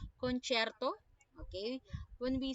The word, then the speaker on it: concerto: have the Concierto Grosso when we say concerto okay you are to pronounce it concerto okay when we say